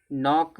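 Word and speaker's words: knock: नोक माने खटखटाना। नोक में क्या होता है? के साइलेंट होता है।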